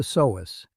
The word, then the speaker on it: psoas: a muscle called the psoas. You say it like this, Psoas.